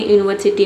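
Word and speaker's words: university: जैसे कि यहां पे आपने यूनिवर्सिटी में देखा। यूनिवर्सिटी में शुरू में यू जो है ये वोवेल है। लेकिन यहां पे इसका साउंड क्या आ रहा है?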